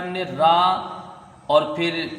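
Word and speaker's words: ر: तो भले ही इंग्लिश में ये आर बोलने में आता है लेकिन इसका जो साउंड है इसकी जो आवाज है वो रा है। रा।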